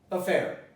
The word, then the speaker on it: affair: This is, pronounce it, affair.